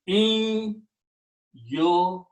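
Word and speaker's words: إِنْ يُكَذِّبُوكَ: Now in tajweed, when noon and ya come together, you pronounce noon as a noon a gunna, and then you put shadda on the ya. So now the sound will be in yukadhibu.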